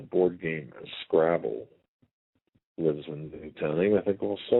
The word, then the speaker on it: Newtown: secondary place out of Newton, Connecticut. It's only a town of 2,000 people. We have to keep... Newtown, sorry. Newtown. We have to make sure we pronounce that right.